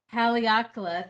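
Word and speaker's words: Haleakalā: This one is, I'm having a hard time pronouncing it. Haleakala. Haleakala, thank you.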